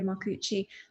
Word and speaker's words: Marcucci: The artist she was influenced by this collection was Lucia Marcucci, and Lucia Marcucci. Maria corrected my pronunciation earlier.